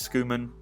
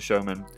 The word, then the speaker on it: Schoeman: the comments have said how to pronounce it, is Schoeman as opposed to Showman.